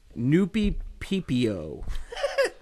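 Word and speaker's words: Nuppeppo: Noopy PPO. N-U-P-P-O. Is that the Japanese version of 3CPO? It is spelled N-U-P-P-E-P-P-O. Oh, my God. It's Noopy-P-P-O. Like Japanese Mississippi.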